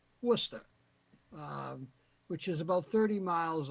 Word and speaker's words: Worcester: of Worcester uh some of you folks might pronounce it War sesta but it's pronounced Worcester which is about 30 miles away from Framingham